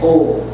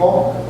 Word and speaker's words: Om: DOT say how you the word we say oh that is not a proper pronunciation proper pronunciation is oh oh all is coming from the B